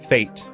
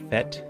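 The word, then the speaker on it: fête: had in mind was fate or fet depending on how you pronounce it but it's Fe T it's a celebration or Festival it's a word that the English language nabbed from French and it has this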